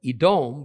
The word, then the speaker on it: Edom: and Eve however the two words are spelled the same doet me in Hebrew see it's only when we add different vowel sounds and then pronounce it out loud that we come up with Edom versus Adam and more importantly for